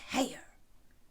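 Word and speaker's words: Haigha: happy his name is heyer he pronounced it so as to rhyme with mayor well i love my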